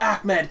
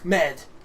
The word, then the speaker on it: Ahmed: pronouncing my name right it's not ammed it's Ahmed and it's like o